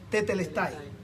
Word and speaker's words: tetelestai: Cuando Jesús muere en la cruz, él usa una palabra bien importante que es una palabra griega que se pronuncia mucho, que es tetelestai.